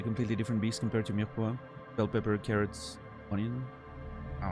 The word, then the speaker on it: mirepoix: Remove the E. Mirepoix. If you really want to pronounce it, you know, French, it's mirepoix. And you need the weird R, but obviously that's, you know.